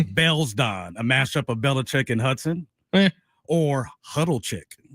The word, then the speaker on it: Belichick: Belichick. How many syllables is that? Belichick. 3 syllables? 3 syllables.